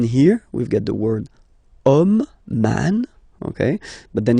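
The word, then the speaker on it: homme: we get the word om man okay but then it starts with Ash as in French Ash is not pronounced so the first sound that we hear is O Okay and then it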